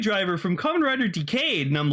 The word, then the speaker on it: Decade: oh I got the DECA driver from Kamen Rider Decade and I'm like it's decade guys pronounce it decade nothing so beats Kamen